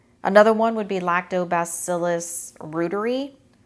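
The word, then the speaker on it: reuteri: one would be lactobacillus Rueter II sometimes people pronounce it root airy and basileus some to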